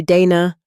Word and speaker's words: Dana: Great to see you, Dana. Not Donna, not day.